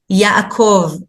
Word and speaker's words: Yaakov: So that's why it's very important to learn the names by their real pronunciation. So Moses is actually Moshe, Avraham is Abraham, that's close, but Yitzchak is Isaac, Yaakov is Jacob.